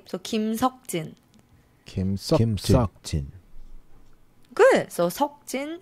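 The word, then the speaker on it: 김석진: Park e is the most common name so Kim Sook Jin is his screen name and Jin as a stage name so Kim sokjin Kim Kim good so talking his name good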